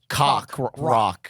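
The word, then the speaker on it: Coq Roq: It's spelled COQROQ. Yep. But That's it why it sounds like cock rock.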